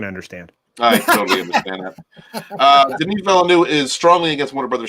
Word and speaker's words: Denis Villeneuve: Steven, you pronounced the name Denis Villeneuve. Wow. Denis Villeneuve.